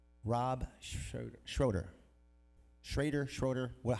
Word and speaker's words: Schroeder: Rob Schroeder. Schroeder. Well, how do you say it? Schrader. There's no A in there. Schrader.